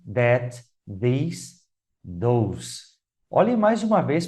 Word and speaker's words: these: cada um, o primeiro i ali, que é pronunciado, né, ele é mais curto no this, this. E o segundo, these, vejam que tem dois pequenos pontos do lado do símbolo I.